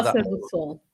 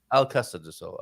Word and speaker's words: Alcácer do Sol: Am I right in saying, is it Alcácer do Sol? So Casa do Sol. Casa do Sol, you call it? Alcácer. Alcácer do Sol.